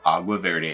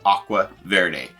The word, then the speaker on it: Agua Verde: merchandise courses and newsletters a quick apology for mispronouncing the name of agua Verde a couple times yes we call it Aqua Verde hey when you're traveling